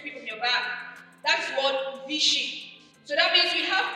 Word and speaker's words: phishing: The phishing is spelled phishing, phishing. So it's not when you throw a hook, but it's pronounced the same way.